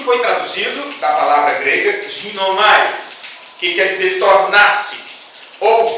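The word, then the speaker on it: γίνομαι: A pronúncia grega é mais ou menos esta, ginomai, que significa poder de se tornar completo como.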